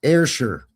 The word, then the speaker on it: Ayrshire: It's pronounced Ayrshire. So AYR is not IR, it's air. Okay. And then Shire is pronounced sure. Ayrshire.